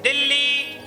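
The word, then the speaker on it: دلی: आज का हमारा लफ्ज है दिल्ली।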